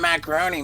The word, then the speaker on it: Macaroni: can't trust anything Sam Macaroni says. No, of course By the not. way, his proper pronunciation is macaron, I know. and he goes by macaroni.